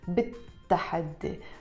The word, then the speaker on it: بالتحدي: We don't pronounce it بالتحدي. We drop the lam sound and we pronounce it بالتحدي because the word تحدي starts with the ta and the ta is a sun letter.